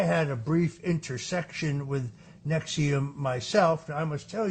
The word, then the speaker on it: NXIVM: It was the deep investigative reporting of Frank Parlatto uh that brought down the Nexium sex cult. That's spelled NXIVM.